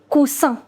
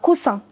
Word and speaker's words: coussin: Now, if you want to say cushion, then you write double S and you pronounce it as S and not Z. It is un coussin. Un coussin.